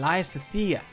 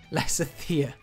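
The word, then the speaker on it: Lysithea: Marianne and Lysithia. Lysithia? Who makes up these names? Lysithia. Sounds like lice. It's like the lice princess.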